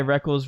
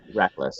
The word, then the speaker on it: Reckless: I'm pretty sure this guy Reckless rhymes with... No, it's Reckless. I'm almost positive it's Reckless. I've heard them pronounce it. See, I said Reckles. Matt corrected me and said Reckless.